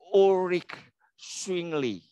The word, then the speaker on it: Ulrich Zwingli: ya Ini ada namanya ulrich zwingli ah bacanya seperti itu ya agak-agak ribet ya bacanya Ya urich swingly bisa coba 123 urich swingly Nah ada lagi tokonya